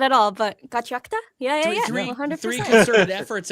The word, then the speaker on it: Gachiakuta: I was like, Gachiakuta. Technically Gachiakuta, because ku in Japanese can be just k, depending on how fast it flows by, but like I don't know.